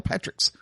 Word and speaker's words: Patrick's: I saw the S. I recognized the S, and I still didn't pronounce the S. That one's on me. I apologize. You're okay. So it's funny. You got Dan Patrick and Patrick's. There is an S there, Eddie.